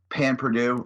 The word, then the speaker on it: pain perdu: the way it is it is pan perdu it's a little different there's like it's spelled like pain perdu okay yeah it has